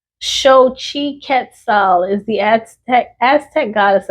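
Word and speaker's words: Xochiquetzal: Okay, so it's pronounced show. I thought that was Zo. Oh my gosh, y'all. See, loud and wrong. Shi Ketal is the Aztec Aztec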